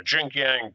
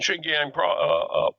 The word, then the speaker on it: Xinjiang: And certainly, and that's Jim was talking about what's going on, and he said northwestern China, western China, Xinjiang province. I think that's the way you pronounce it.